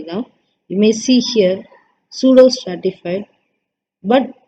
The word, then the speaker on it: pseudo: Okay, so pseudo stratified. Stratified na mostly straight இருக்க மாதிரி தான். You may see here pseudo stratified, but pseudo means P is silent here.